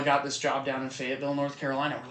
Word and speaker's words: Fayetteville: Like to the point where we were like, we call it like Fayetteville, like Lafayette. Gotcha. We're like Fayette, like what, is this like Marquis de Lafayette?